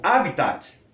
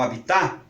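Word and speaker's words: hábitat: bem é uma escolha como a palavra é está acentuada como proparoxítona ela tem que ser pronunciada com proparoxítona portanto se nós quisermos que ela seja pronunciada como habitat nós vamos ter que faz colocar o acento para virar as proparoxítonas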